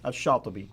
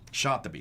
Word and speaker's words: al-Shatibi: Now, how would you pronounce his name? Shatibi. Shatibi.